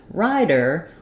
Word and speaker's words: rider: doing correctly um so in the words writer and Rider we basically have the same pronunciation for the T of ryer and the D of ryer and that means um that we're using what's called a flap sound for both of these for